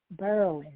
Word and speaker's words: Berwyn: thank you so much how how was it pronounced berlin berlin okay very very different never heard of that